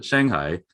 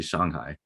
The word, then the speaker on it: Shanghai: And so a lot of people conventionally call the city in China, Shanghai. And that's fine. That's a conventional pronunciation, but it's not right. It would be Shanghai. If you're speaking Mandarin, right?